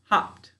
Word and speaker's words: hopped: syllable let's find out put your hand on your chin hopped hopped nope it's not going to get its own syllable all right so we're just going to it's hopped is still all one syllable all right so let's